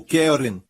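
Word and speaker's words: קֶרֶן: desta aqui Caron Caron a palavra Hebraica para ela é Karen ou querem é assim se pronuncia em hebraico querem se o seu nome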